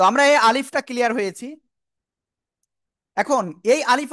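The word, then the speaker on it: alif: এমন বলব তাই না তো একসাথে যদি বলি আলিফ তো কিভাবে উচ্চারণ করতে হবে আমার মুখের দিকে খেয়াল করবেন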